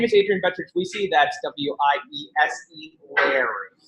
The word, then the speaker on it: Wiese: That's W-I-E-S-E, Larry. Wiese, like we see, you don't pronounce it as the Germans would.